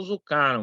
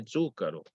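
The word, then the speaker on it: Zuccaro: Eu falei com um amigo italiano, ele falou Zucaro, mas aí eu falo com outro e falo, não, por que Zucaro, não é Zúcaro? Aí, Tem que ver se você quer fazer a pronúncia italiana ou ou fala brasileira, né? Zucarão, né? Zucaro. Como brasileiro, eu gosto de colocar sempre na paroxítona na coisa, né?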